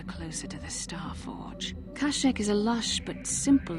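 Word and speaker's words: Kashyyyk: a star map here I prefer basilis pronunciation K Kosik seems to make more sense the wookies of kek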